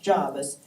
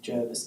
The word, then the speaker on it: Jervis: soapbox he is John Jarvis his name is pronounced Jarvis it used to be known as old Javi in the Navy it is ridiculous when you hear the ABC speaking of Jervis Bay it was ridiculous that locals in Jarvis